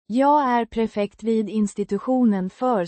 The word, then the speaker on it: prefekt: Pronounced Prefekt. with a distinct emphasis on the first syllable.